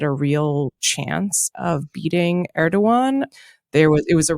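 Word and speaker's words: Erdoğan: Turkey um where recipe erdogan did indeed er do win um which was a great victory for for everyone who didn't want people to use the hard G because the alternative was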